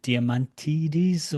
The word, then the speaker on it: Diamantides: particular lady, Greek lady, I hesitate to pronounce the name Diamantides or. That's right. Yeah, that's good.